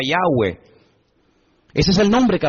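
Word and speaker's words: Yahvé: y he Bad he verdad ese nombre se pronuncia yahwe Ese es el nombre que aparece en el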